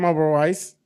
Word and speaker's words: Oberweis: Uh, it's Jim Oberwise. Uh, I pronounced that right, didn't I?